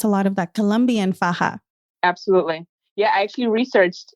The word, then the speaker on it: faja: Colombia and the reason we're all calling it faah which by the way if you say FAA stop it no way there's people calling it that by the way I hear that so faah that's the proper pronunciation but obviously the word